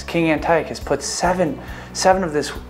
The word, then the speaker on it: Antiochus: right there I like getting it right don't mispronounce it Antiochus King Antiochus puts seven seven of this of this mother's